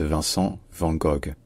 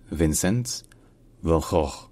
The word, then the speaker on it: Vincent van Gogh: Alors la plupart des gens en France prononcent le nom de cet artiste Vincent van Gogh. Mais dans sa langue maternelle, donc en néerlandais, ce n'est pas du tout ça. En néerlandais on dit Vincent, donc ça c'est le prénom, c'est plutôt facile.